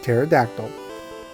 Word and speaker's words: pterodactyl: Is terror with a silent P like pterodactyl.